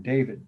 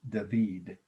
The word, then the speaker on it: David: you see by david this one is david or some people think his last name sounds like the first name david but that's not in french it's david d-a-v-i-d the artist death of